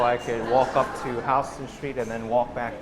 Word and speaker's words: Houston: stands for south of Houston Street it's not pronounced Houston Street for those of you who like to pronounce the name like in Texas but this named after William Houston that's why the neighbor's